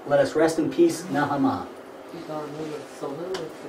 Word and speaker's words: Naamah: Um Uh Naamah. Naamah.